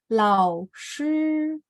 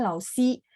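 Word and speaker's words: 老师: Lao shi. Makanya kemarin ada yang misalnya pas open mic dia bacanya lao si. Saya langsung koreksi lao shi.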